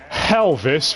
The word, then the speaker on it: Helvis: Nanbu is voiced by Jason Marnoka, who's Gus Goldman from Carol and Tuesday, and Helvis from the movie Hells. That name rhymes with Elvis, that's why I threw it in here.